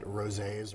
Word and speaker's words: rosé: Rosé is big right now. It's been big for a little bit because, I mean, it rhymes with all day, so rosé all day.